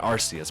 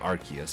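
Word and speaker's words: Arceus: It's actually not Arus, but Archus because you know the arc in its back.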